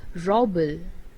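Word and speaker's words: rouble: currency of russia and it is known as robel at the spells r o u b l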